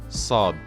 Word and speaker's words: ص: studied was Sheen and the letter after is sod so so this letter it's like in the